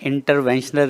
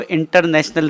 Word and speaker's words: interventional: मैं डॉक्टर मोहम्मद काशिफ शाजली, नाम तो आपने बताया, और सबसे अच्छी बात ये कि आपने इंटरवेंशनल रेडियोलॉजी को प्रोनाउंस सही किया है, वरना लोग इसको इंटरनेशनल रेडियोलॉजी कर देते हैं।